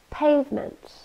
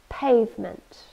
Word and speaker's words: pavement: to make concrete's cements pavement two syllables and we stress the first one pavement it's a noun and